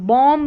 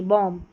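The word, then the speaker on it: bomb: Lamp lamp बॉम्ब नहीं बॉम्ब यह है क्लाइंब नहीं क्लाइम क्लाइम। तो सभी में बी साइलेंट है।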